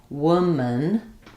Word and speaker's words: woman: Um, so in woman, woman, the second vowel is pretty much gone. If it's any vowel, it's going to be a little schwa sound like an uh w is like the same as in would.